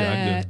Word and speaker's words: Agde: Donc là, Lidl cherche un ou une adjointe manager de supermarché à Agde, pardon, je prononce mal, c'est ça, dans l'Hérault, voilà. Oui, c'est Agde.